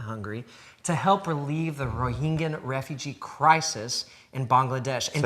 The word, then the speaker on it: Rohingya: Food for the Hungry to help relieve the Rohingya refugee crisis in Bangladesh. And say that again, Rohingya. Can you say Rohingya? It's hard to say, it is hard. But you can help. Rohingyan.